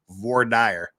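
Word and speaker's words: voir dire: of that most important of legal terms is VOR dire that's uh that's just how it was pronounced and you will not you will not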